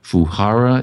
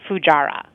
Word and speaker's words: Fujairah: saying your name right is it fahara is that the right way to say it it's actually Fujairah fujairah okay well I